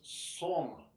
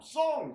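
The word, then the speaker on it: sōng: for relaxing in Chinese is song s-o-n-g like a song all right only kind of pronounced like a year song all right um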